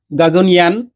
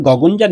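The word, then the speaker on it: Gaganyaan: দেখার দেখতে থাকো গগনজান মিশন গাগনিয়ান কিন্তু আমাদের উচ্চারণ হবে গগনজান mission aims to send three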